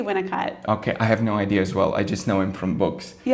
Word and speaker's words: Winnicott: Yeah, I say Winnicott.